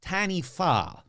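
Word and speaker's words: Taniwha: again T there we go t t Okay Tanny they're saying Tanny I looked it up even though it's spelled ta a n i wh a it's a mai word pronounced tanif so what is a tanif well that's where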